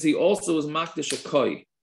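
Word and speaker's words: כוי: So if he made all his animals hektish, both wild and domesticated, that means he also is makdish a koi. Some pronounce it as kvi, right?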